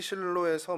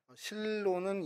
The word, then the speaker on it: 실로: 실로는 히브리 말로도 쉴로라는 발음 그대로입니다.